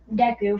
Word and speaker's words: Deku: pretty much on point the deco part also literally rhymes with an anime character's name deku from my hero academia okay that's like the